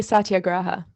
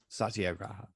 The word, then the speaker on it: satyagraha: great how do you why don't you tell us how you pronounce it so the listeners know i'd say satyagraha satyagraha okay but words are just